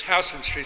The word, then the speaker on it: Houston: Folks, if you come to New York City and you say Houston Street, you're going to let them know right away you're from out of town. It's Houston Street, spelled the same way, but it's Houston Street.